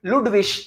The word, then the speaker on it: Ludwig: So IG is Ish at the end. That's why it is Ludwig and not Ludwig or something else.